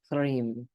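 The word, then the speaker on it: ह्रीं: This has an L sound between the H and the R, so it's Hrim. And it's so simple. You can just sit with that. Hrim, Hrim, Hrim.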